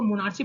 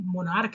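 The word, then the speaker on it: monarch: क्योंकि ये मोनार्च नहीं मोनार्क है, ये पेट्रियार्च नहीं पेट्रियार्क है ना।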